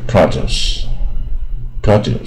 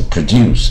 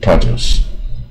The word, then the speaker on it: produce: 产品啊，它就不是第二个音节，叫 produce 啊啊，所